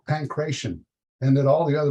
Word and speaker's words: pankration: And so you can have the pankration or whatever, I'm not sure how it's pronounced.